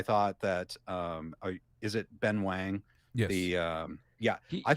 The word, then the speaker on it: Ben Wang: the um Yeah, I thought he was pronounces it as Wong. I've seen Yeah, he he introduces himself as Wong and I know it's like phonetically it looks like Wang, right? Um Ben Wong uh I thought was uh great.